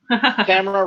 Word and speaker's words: Tamara: Tamara rhymes with a camera.